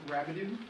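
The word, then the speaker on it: Rabideau: name and spell your last sure it's rabido that's spelled r a b i d e a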